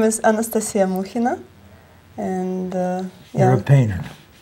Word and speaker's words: Anastasia Mukhina: would like it the way it should be pronounced and stated. Okay. My name is Anastasia Mukhina, and You're a painter.